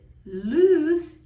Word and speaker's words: loose: Whereas loose is an adjective. It means not tight, not fastened, and it's pronounced with a voiceless s sound, as in snake.